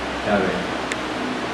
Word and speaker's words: Yahvé: Cuando uno dice Jehová es Yahvé o Jehová, ¿ok? Yahvé. Cuando la dices bien pronunciada en el hebreo antiguo, la dices.